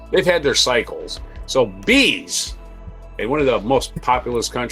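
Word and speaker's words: B'z: Number 8 is Japan, and that is the Bees. That's right. B apostrophe Z is pronounced bees.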